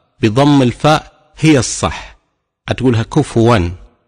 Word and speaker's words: كفوا: يقول ولم يكن له كفوا احد يسكن الفاء وهذا خطا خطا شائع ليس في روايه حفص ولا في غيره ان تقول كفوا احد فبالتالي والحاله هذه